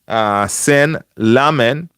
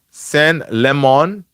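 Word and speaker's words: Lammens: Sen Lamen. No, it's Sen Lemon. I think it's Sen Lemon. That's how he's pronounced his name.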